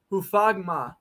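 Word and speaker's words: Hufanga: And lands into the arms of Hufagma. That's how you pronounce it.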